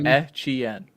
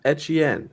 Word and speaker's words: Etienne: I mean, Etienne. How do you pronounce it again? Etienne. Yeah. Etienne.